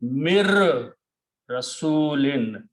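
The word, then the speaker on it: مِن رَّسُولٍ: Okay, in the recitation, in the tajweed, when ra and noon come together, then we do not pronounce noon, but we pronounce ra twice. That's the reason we put a shadda on ra. So the tajweed will be mir rasulin.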